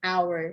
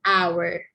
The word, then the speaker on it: hour: never mind okay an hour so you silent the h sound all right you silent the h sound you just focus on pronouncing the o sound over here it's hour hour and hour so